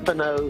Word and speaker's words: Stefano: Stefano Tsitsipas.